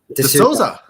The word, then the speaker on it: D'Souza: DeSouza.